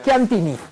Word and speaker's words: Chiantini: This is Italian. Chiantini. If you only look at this, this is a very famous wine. Chianti. Yeah. Yes. And then you put some more syllable and you get Chiantini.